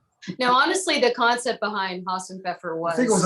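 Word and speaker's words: Hasenpfeffer: This Hassenpfeffer. I don't really think that's how you say it. Some No, German that's absolutely correct.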